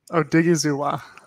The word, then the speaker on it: Odighizuwa: how about you it's going well can you pronounce osa's last name oh diggy zuwa thank you it say it three times press